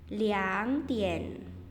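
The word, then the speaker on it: 两点: pagi atau dua siang itu dibacanya bukan rtn ya jadi bacanya bukan RT n2k memang er tapi untuk jam dia dibacanya jadi liang Tien ya Itu khusus jam ya menit tidak berubah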